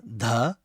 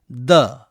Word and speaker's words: ध: स्वर ध, हिंदुस्तानी संगीत में उच्चारण ध, कर्नाटक संगीत में उच्चारण द।